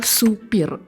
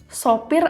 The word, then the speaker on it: sopir: Eh, sopir atau supir? Sopir atau supir? Sopir. Sopir? Yakin. Iya. Sopir yakin nih ya. Betul. Yang yang baku itu adalah sopir.